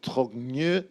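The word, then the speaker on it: Trogneux: Brigitte Marie-Claude Trogne Macron. Trogne. Trogne. Oh, you don't pronounce It's the a G.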